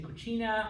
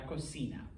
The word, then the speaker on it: cocina: of you that are italian-ish if you say cucina i will take points off all right it is i know it's spelt the same kinda but it's called cena okay la cocina starting on the left la tostadora toaster okay